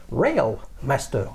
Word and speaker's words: Railmaster: quoi vous me dites réel master avec un r real master si on prononce en anglais un modèle complètement inconnu